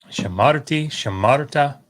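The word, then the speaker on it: שָׁמַרְתְּ: ta second masculine singular oddly enough this is pronounced shamart shamart um so these are both silent shavas it's just sort of a weird case this is closing the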